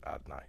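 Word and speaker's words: Adonai: We kind of skip a couple of the vowels, we pronounce it Adnai. Okay, so we have this concept that Hashem, that his Malchus, or his Shem Adnai, is his capacity to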